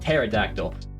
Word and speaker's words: pterodactyl: The whole thing with the pterodactyl is that it's supposed to P, but it's pronounced pterodactyl.